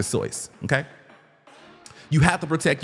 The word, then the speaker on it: Seuss: It's not Dr. It's not We know it as Dr. Seuss. That's what we taught as children. It's Dr. So, okay.